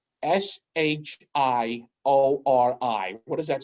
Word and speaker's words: Shiori: it spells all right s-h-i-o-r-i what does that spell which one chiro shorey sure all right so close right so it's shiori right s-h-i-o-r-i shiori okay okay so she gets all